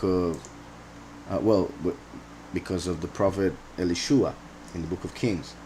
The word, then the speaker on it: Elisha: There are several reasons why I think it could be, or perhaps should be, Elishua.